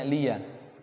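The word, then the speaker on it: لِيَ: Di dalam qiraah Hafs itu bacanya liya, tapi kalau di dalam qiraahnya Syu'bah dibacanya walidin, ianya tidak berharokat.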